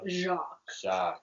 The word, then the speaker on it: Jacques: think it's jakey something it's spelled like that but it's jock jack jacques jacques webster webster forgotten